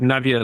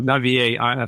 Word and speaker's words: Navier: i mean this is i'm pronouncing this word navier like a typical anglo person that i i am i mean claude navier